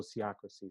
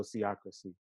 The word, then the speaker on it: sociocracy: challenge with that word so see accuracy so think of sociology and democracy and put those together so see accuracy another word for sociology